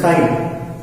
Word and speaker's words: chi: It's like X, but it's not X. See, pronunciation of the symbol is chi.